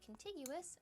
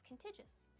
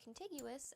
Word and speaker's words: contiguous: In that video, I accidentally mispronounced the word contiguous as contigious.